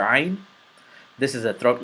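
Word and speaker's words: ع: This is a throat letter, and it's specifically pronounced from deep part of your throat, and the warm-up that will help you pronounce this letter is the gargle and spit warm-up.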